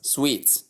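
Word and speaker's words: suite: We take it back to the word s u ii t e which is spelled the way I've just spelled it but pronounced as sweet.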